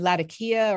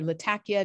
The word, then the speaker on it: Latakia: Coming down the coastline, there are a couple of other Presbyterian churches in Latakia or Latakia, depending on how one wants to pronounce that.